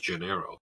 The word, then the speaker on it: Janeiro: Brazilian brand called Sol Janeiro um I hopefully I didn't butch the pronunciation because it it the J isn't soft in this case here um un likee Norm in Portuguese and that business is